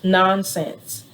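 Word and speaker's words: NonScents: fragrance free products frag free looked into theirs nonsense n-o-n-s-c-e-n-t-s yes you know and s-c-e-n-t-s i've looked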